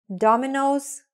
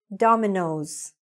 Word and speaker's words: Domino's: Sometimes we see the apostrophe S on the first word, like here, Domino's Pizza. So don't say Domino Pizza, say Domino's Pizza. Repeat it after me, Domino's.